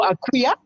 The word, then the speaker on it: Akria: So Akria, the K is pronounced like a Q.